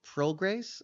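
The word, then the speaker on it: Prograis: about Devin Haney versus uh Regis PR Grace is how you say yes that should be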